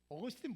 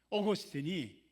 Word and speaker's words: 어거스틴: 근데 아구스티누스는에 라틴어고요. 라틴어로 아구스티누스라고 발음하는 거고요. 영어로 발음하면 어거스틴입니다. 어거스틴 모르는 사람은 거의 없잖아요.